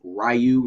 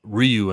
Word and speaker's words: Ryu: Akuma and lead character Rayu respectively. Uh Kina Leang. Okay. Yep. We got to the point that I wanted to talk about that's who she was. I heard it's pronounced Ryu and not Rayu and that finally people will pronounce it correctly.